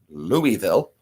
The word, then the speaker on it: Louisville: Louisville now it is spelled Lewis it is pronounced Louisville we say Louisville so if you're from Louisville you know you